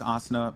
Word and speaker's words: Asuna: okay no no no it's asana pocket because it comes from an anime called sword art online um i appreciate